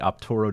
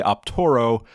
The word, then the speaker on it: Optaro: on their website on how to install the optoro device into the case and there it is